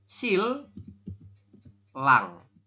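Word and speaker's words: 신랑: seperti itu itu ya jadi ninya berubah bunyi jadi l realnya juga di atas ini dia bunyinya tetap l maka kita membacanya adalah Sil Lang seperti ini silang silang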